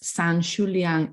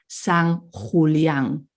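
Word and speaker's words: San Xulián: of the X so this San shulian in Spanish would be S Hulan so most X in Galan are Js in Spanish okay okay remember that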